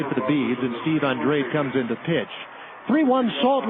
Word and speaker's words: Andrade: for Maniac ball one professional golfer with the same last name pronounces it Andre Billy Andre this guy is Steve Andrade a-n-d-r-a-d-e Maniac climbs back in